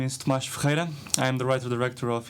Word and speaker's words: Thomas: please introduce yourself uh hello my name is toas I the writer director of Ina house at